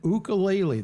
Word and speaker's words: ukulele: Now, you're pronouncing it ukulele. That is the correct pronunciation? Yes.